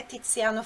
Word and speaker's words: Tiziano: O Z tem som explosivo. Então, o nome dele, veja só como se escreve aqui. O nome dele se escreve assim, com Z. Tiziano, Tiziano. Então, tem esse som, né? Tiziano. Repete aí, Tiziano. Tá? Não é Tiziano, Tiziano, não, é Tiziano, Tiziano, essa é a pronúncia.